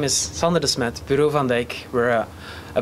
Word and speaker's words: Sander Desmet: Next speaker is Sander Desmet, Product Manager, Bureau van Dijk. Did I say it right? Yeah, that was great. Thank you. Thank you. Good morning, everybody. My name is Sander Desmet, Bureau van Dijk.